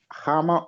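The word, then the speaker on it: Khama: Okay, and I look so, that's Hama then, not Kama. Hama. But in Zambia, yeah, but we pronounce that as Kama, you know.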